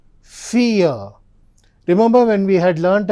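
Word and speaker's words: vier: So V is always pronounced with the sound of F.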